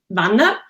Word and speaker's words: Wanner: So in Swiss German, you would say Vanda. So in English, it's Wanner. So it's like a little bit strange how to pronounce it.